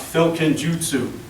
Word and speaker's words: Filkenjutsu: yes big long word it's pronounced filkin Jutsu and what it really